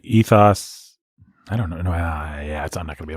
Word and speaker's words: ethos: I've always said ethos, but apparently it's ethos.